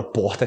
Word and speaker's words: porta: que é clássica né que você pode falar porta você vai escutar porta em português também porta com essa importa sério quem tem regiões do Brasil e falam porca e tem outras regiões que falam importa eu falo corta como porca Mas como e assim mais arranhada porta que você vai ter o também no interior de São Paulo outras regiões que falam que horta né tipo porta o r só como o more não